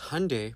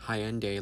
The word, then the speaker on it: Hyundai: our people because Hyundai, pronounced like Sunday, not Hyendai, like you're saying, is a Korean company.